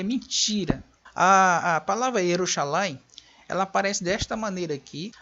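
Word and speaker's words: ירושלים: Então eles colocam uma nota de rodapé no texto, indicando, no texto de Nelingrado, a pronúncia correta seria Yerushalayim. Yerushalayim, não Yerushalam.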